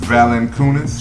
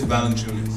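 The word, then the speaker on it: Valančiūnas: Jay Valanciunas? Jonas Valanciunas.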